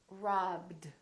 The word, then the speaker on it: robbed: it's a voiced consonant if the last letter of the verb is a voiced consonant The Ed becomes dip robbed robbed so voiceless this